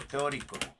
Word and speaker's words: teórico: el capítulo 1, marco teórico. Eso no lo hemos visto, pero lo vamos a ver. Teórico. Teórico, creo que va con acento en la O.